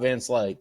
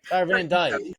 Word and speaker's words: Van Dyke: Yeah, whether he can stop Vance Lake. So, but here's the thing. I always get his name wrong, Keith. You always do. It's Van Dyke.